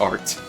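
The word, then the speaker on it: Arte: a little slow but it's just art the e is silent it's just like normal art so much for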